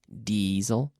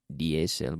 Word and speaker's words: diesel: it could be diesel diesel not DSL but diesel could be kerosene propane